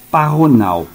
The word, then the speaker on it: pajonal: O J é aspirado, como no castelhano. Fecha o colchete. Ou seja, a pronúncia é parronal.